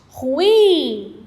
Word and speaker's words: ruim: ou mais sílabas polissílaba bom no que diz respeito a tonicidade ou seja a sílaba tônica essa palavra é oxítona ou paroxítona me digam aí eu tenho qual é a sílaba mais forte ruim é a última sílaba é mais forte né então essa